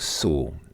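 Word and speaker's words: Sault: l t in French but it's pronounced like Su so something like that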